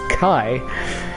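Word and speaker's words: χ: Kai back cover and I do say Kai not key because that letter is pronounced Kai but anyway it's uh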